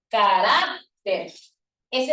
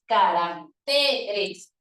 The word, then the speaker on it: caracteres: es por eso que lo correcto no es carácteres sino que es caracteres el acento se desplaza a la siguiente sílaba para formar el plural es por eso que